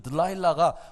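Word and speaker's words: 들릴라: 그 영국의 가수가 불렀던 노래를 조용남이라고 하는 분이 번역해서 불렀던 들라일라라고 하는 노래가 있는데 그 들라일라가 드릴라라고 하는 말의 영국식 발음이에요.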